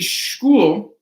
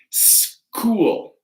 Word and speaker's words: school: Like this one, it wouldn't be school, it's school with a hard K, school.